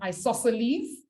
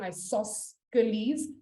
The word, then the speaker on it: isosceles: an isosceles triangle or a nice it's actually pronounced isosceles but i always say isosceles so that i can remember how it's spelt